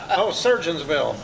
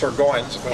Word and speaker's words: Surgoinsville: When I first moved here, Surgeonsville, Yeah. and I was corrected. No, it's Surgoinsville.